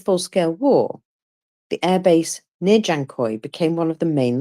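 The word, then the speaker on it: Dzhankoi: pronounce this place um just pretend it's got a j basically janoy um so uh military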